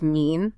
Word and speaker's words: mine: It would have been pronounced with a long E sound. So mine was mean, fine was fiend.